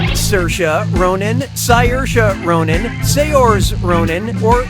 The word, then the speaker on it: Saoirse: How do you pronounce, her name? Saoirse Ronan, Saoirse Ronan, Saors Ronan, or Saoirse Ronan?